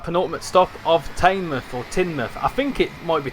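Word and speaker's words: Teignmouth: Tinmouth. Tinmouth. Yeah. Okay. So, it's not Tmouth, it's Tinmouth.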